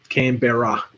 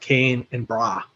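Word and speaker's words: Canberra: vows shortened so much it literally sounds like can and bra yeah it's like two syllables yeah it's probably was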